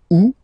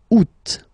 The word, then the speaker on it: août: And then here, two options because, well, two options are acceptable in French. The first one, you don't pronounce the final T. Ou. Second one, you pronounce it. Août.